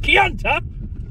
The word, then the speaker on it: Kianta: Mainly my name, Lord Kianta. You know, I'm saying pretty clearly saying cunt. But it's not spelt cunt, is it? It's spelt motherfucking Kianta.